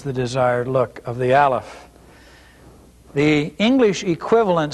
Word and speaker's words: Aleph: So again, we want to remind you that this letter Aleph is a silent letter. By that we mean that you only pronounce the vowel which is beneath the letter. You don't pronounce the letter, you just pronounce the vowel beneath it.